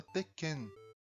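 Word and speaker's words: 鉄拳: Também é da Nanco a série de jogos de luta Teken que se pronuncia com essa pausa no meio.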